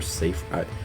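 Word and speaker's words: Seifer: as good as um Cipher or safer I'm gonna call him safer because that's how they pronounce it and um tales of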